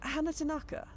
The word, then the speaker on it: Hannah Tanaka: Um, I'm friends with your close friend and roommate, Hannah Tanaka, which I have on good authority is pronounced rapidly with no space as if Madonna. Hannah. Hannah Tanaka.